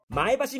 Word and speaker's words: 前橋: それが群馬県前橋市の発音です。はぁ？前橋？前橋です。ああ、群馬の人たちは「フラット」って言うんだよね？